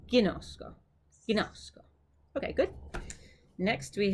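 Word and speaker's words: γινώσκω: But when we say it here for koine, we're going to say ginosko.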